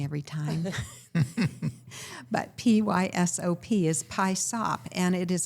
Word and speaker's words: PYSOP: And it's spelled PYSOP. AI gets it wrong every time. But PYSOP is PYSOP, and it is an acronym for Put Your Stuff on Paper.